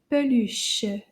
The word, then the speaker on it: peluche: And a Stuffy in French is called peluche. Une peluche. Let's see if we can clap the syllables. Peluche. Peluche. Deux syllabes.